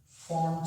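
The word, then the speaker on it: Pfund: को कहा जाता है फॉन्ट series of spectral lines. P जो है इसमें साइलेंट है, फॉन्ट सीरीज।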